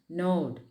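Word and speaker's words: gnawed: himself and there is a word node g-n-a-w-e-d it should be pronounced node knowing something means to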